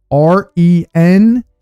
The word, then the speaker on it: renege: The word is spelled Renege. Sure thing. So the pronunciation you're looking for is renege, like it rhymes with syringe.